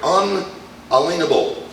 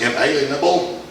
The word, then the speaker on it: unalienable: won't think of those are things which are unalienable now the way people like to pronounce that word is inalienable but that's not the way it's pronounced that's